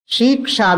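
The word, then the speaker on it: शिक्षा: Actually, the right form is shiksha, short shakara. She. It is not long.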